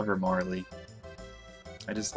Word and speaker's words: Marle: character of the game her name is marl i really don't like that name i know that's how you're supposed to pronounce it i'm gonna probably call her marley i just like that's